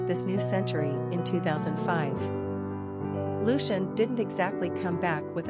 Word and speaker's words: Lucian: may want to consider Luciano as in Pavarotti quick facts on Lucian gender boy origin English number of syllables two ranking popularity 631 pronunciation l-o-s-h-n simple meaning light shining